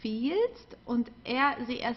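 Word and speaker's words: empfiehlt: fields and field okay so have an i e which is already a long i and then we also add an h here which stretches it even more okay so field okay we don't pronounce the h don't forget about that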